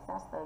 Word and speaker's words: disaster: Thì trọng âm rơi vào âm thứ hai. Thì vì có mỗi là disaster thôi. Thì âm disaster nhận trọng âm.